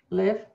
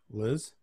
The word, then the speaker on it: Liv: Insure with Liv. .ca. Liz? Liv. V. Liv. Let's say it like that?